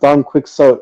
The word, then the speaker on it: Don Quixote: I used to say I thought it was pronounced Don Quixote or Quixote. Because that's how it's spelled in English. Yeah, that's how it's spelled. Don Quixote. It's Spanish.